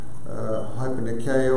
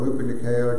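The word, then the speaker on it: ὑπερνικάω: And it's hypernikeo or hypernikeo, it depends on how they say it. It depends on either modern Greek or an old Greek or not a Greek at all.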